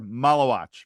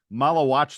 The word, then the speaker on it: Maluach: Yeah, I was going to say, by the way, we've mispronounced his name many, many times. We've now that he is officially a recruit, that's all it took. A member of the Duke class 2024, Maluach.